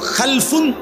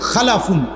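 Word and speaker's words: خلف: হল খালফুন আরেকটা হল খালাফুন একই শব্দ শুধু উচ্চারণের মধ্যে একটু ভিন্নতা মাঝখানে একটা লাম আছে এই লামটার মধ্যে যদি সাকিন হয় তাইলে হল খালফুন আর যদি লামের মধ্যে জবর হয় তাহলে হল খালাফুন আরবি শব্দ এ খালফুন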